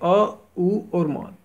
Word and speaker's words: ओम: योगदान करती है तो यह ओम उच्चारण जो है वास्तव में ओम नहीं है यह अ उ और म तीन ध्वनियों से यह सृष्टि की मूल